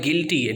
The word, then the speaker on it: guilty: उसके बाद GUITAR गिटार एंड GUILTY गिल्टी।